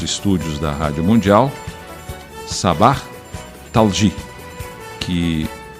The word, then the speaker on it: Thalji: Hoje estamos recebendo aqui nos estúdios da Rádio Mundial Sabah Talji, que é descendente de palestinos, né? Descendente de palestinos. Sabah Ahmad Hassan Talji. Talji, isso. É bom que você me corrija porque você sabe a pronúncia correta.